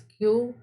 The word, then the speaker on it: queue: got a strange spelling q pronunciation is q and the spelling is q e q u e u e in british english it